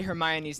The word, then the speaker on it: Hermione: How is it everyone else already knew how to say Hermione's name?